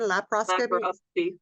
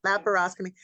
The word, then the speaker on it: laparoscopy: lapos how do you say the word again laparoscopy yeah laparoscopy so for for people that go in for